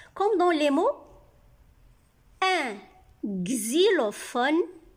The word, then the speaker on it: xylophone: X se prononce X, comme dans les mots un xylophone. X ici se prononce X. X, Y c'est I. X avec I, xylophone. P avec H, les lettres P et H font le son F.